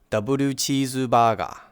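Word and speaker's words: ダブルチーズバーガー: And maybe if you wanted to get some food, you would order a double cheeseburger. And you might be asking yourself, why are these words pronounced with so many extra syllables?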